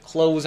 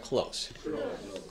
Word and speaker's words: close: 이제 close 하는 거는 동사로 쓸 때는 이제 이렇게 쓰는데 형용사로 쓸 때는 S 발음으로 그대로 가시면 됩니다. 한번 읽어볼까요? close, close, close.